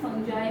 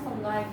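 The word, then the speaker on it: fungi: में देखने को मिलती है, इसके अलावा कुछ फंजाई में देखने को मिलती है। इट इज not pronounce as फंगाई, इट्स फंजाई, ठीक है, फंजाई और एल्गी, ठीक है।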